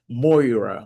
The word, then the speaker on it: Moira: And the last one is what they call moira.